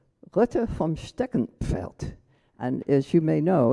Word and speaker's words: Steckenpferd: So the word Steckenpferd has an N followed by a P followed by an F, all of which one must pronounce.